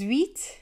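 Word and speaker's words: huit: of the letters yeah eight is wheat when I hear eight it sweet and it's sort of like saying I'm on a wheat diet full on wheat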